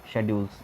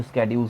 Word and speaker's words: schedules: एंड 8 जो थे आपके शेड्यूल थे, शेड्यूल्स या स्केड्यूल्स भी बोलते हैं इसको, और बेहतर प्रोनाउंसिएशन उसकी जो होती है वो स्केड्यूल्स होती है।